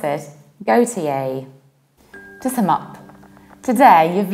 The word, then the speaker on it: Gotye: We will pronounce it like GOTYE, GOTYE. How to remember it? Take a look at my picture. It's go, tea, and yay.